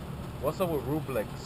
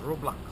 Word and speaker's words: Roblox: What's up with Rublex? Do you like Rublex? Am I saying it right? I am? Oh, I'm not saying it right? Rublex? Is it Rublex? Okay. You like that game? You know the game where you play with the blocks? Oh yeah, it's Roblox.